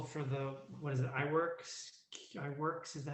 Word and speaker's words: iWorks: I noticed in the proposal for the, what is it, iWorks, is that how you pronounce it? Yes. iWorks, yeah.